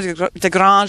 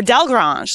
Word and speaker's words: Delgrange: And speaking of the saddle, it is actually a Bruno de Grange saddle. That's pretty good French accent I think I have going on. Sandy is a representative of Bruno de Grange, or Del Grange.